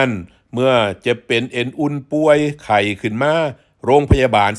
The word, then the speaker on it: ปัว: ปัว ออก เสียง ว่า ป่วย นะ ครับ ป ปลา ไม่ ให้ อากาศ ว แหวน คำ ว่า ปั่ว ครับ หัว นี้ ครับ มี